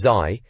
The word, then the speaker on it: ZY: ZY, that's Zai, if you were wondering how to say it, and the team at N64 Magazine were doing their best to help us through it all.